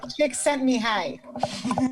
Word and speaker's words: Csikszentmihalyi: I'll never be able to pronounce his last name. Csikszentmihalyi.